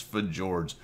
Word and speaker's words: Fjords: It's Fjords. That is how you pronounce it. Do not tell me otherwise.